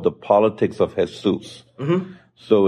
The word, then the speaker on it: Jesús: called the politics of hes mhm so it's uh Jesus with an accent on the U so you have the Spanish and it's how to